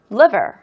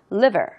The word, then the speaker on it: liver: liver, river이라고 하면은요, 강을 의미하는 거니까 liver. L 발음 유의하시면서 하시기 바랍니다. liver, river, no, liver, liver, liver.